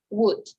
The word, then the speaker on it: would: to continue the pronunciation, we don't pronounce letter L, right? It's would, and it's could, right? It's not would, it's not could, right?